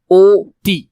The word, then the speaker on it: অতি: দন্তে নেকে নেক অনেক, কিন্তু অতি, এই স্বরীয়টা কি স্বরীয়র মতো উচ্চারণ হচ্ছে, এটা তো অর মতো উচ্চারণ হচ্ছে, ও অতি, অতি। স্বরীয় উচ্চারণ হলে অতি হওয়ার কথা, কিন্তু অতি তো আমরা উচ্চারণ করি না, আমরা বলি অতি, ও তি।